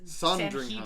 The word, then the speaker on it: Sandringham: No, it's Sandringham. Sanhedrin. It's pronounced some really specific way.